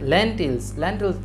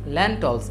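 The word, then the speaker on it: lentils: মানে হচ্ছে শিম, অ্যান্ড ল্যান্টিলস, ল্যান্টলস, এটা উচ্চারণ কিন্তু অ্যাকচুয়ালি হবে ল্যান্টলস, ল্যান্টলস মানে হচ্ছে কি?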